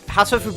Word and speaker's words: Hatoful: Hatoful Boyfriend, it is a play on words. Just because the pronunciation of heartful, I think, is... if you pronounce... It's pronounced like hateful in English.